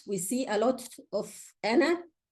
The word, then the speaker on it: أَنَا: And this we see a lot of ana. So I don't say فَقَالَ أَنَا رَبُّكُمُ الْأَعْلَى. No, it's أَنَا رَبُّكُمُ الْأَعْلَى. It's not أَنَا رَبُّكُمُ الْأَعْلَى. Okay? You drop the alif.